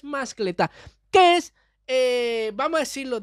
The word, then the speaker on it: mascletá: se llama mascletá, porque lleva la fuerza de pronunciación en la última sílaba. Fíjense, yo siempre pensé que era mascleta, pero no es, es mascletá, que es, vamos a